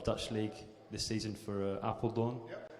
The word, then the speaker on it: Apeldoorn: League this season for Apeldoorn, if I'm saying it correctly. Yes, you did. Yeah, my friend don't say apple like the fruit.